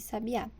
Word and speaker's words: sabiá: menor intensidade sábia e Sabiá a sílaba em destaque em cada um dos exemplos é pronunciada com a maior força em relação às outras